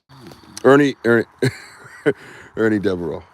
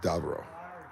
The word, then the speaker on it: Davieau: Ernie Davieau. Depends. Yeah, look at that. It sounds funny because you're not used to hearing it pronounced correctly.